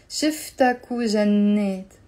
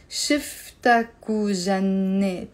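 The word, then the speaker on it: شفتكو جنيت: This is the wow, which you're pronouncing as a u. Shiftaku jannet. As if it's one word. Shiftaku jannet.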